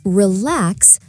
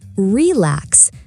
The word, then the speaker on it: relax: For example, say relax, not relax. The stress is on the second syllable.